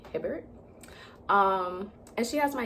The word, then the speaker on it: Hibbert: Whenever I see her name, I always want to say Herbert for some reason, but it's obviously Hibbert.